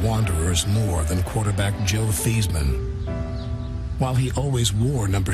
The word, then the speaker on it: Theismann: We're going to change your name from Theismann to Theismann to rhyme with Heisman.